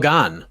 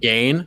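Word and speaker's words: Gane: this man's name because we've heard gone we've heard gain we've heard ghana john anak on friday yesterday john anak on friday said ghana on saturday he said gone so we're like okay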